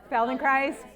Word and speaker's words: Feldenkrais: weird name felden CHR it rhymes with ice so say it after me felden CH rhymes with ice felden chist rhymes with ice okay